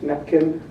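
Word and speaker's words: NAPCN: cono Network in apcn affectionately pronounced napkin became the constructivist psychology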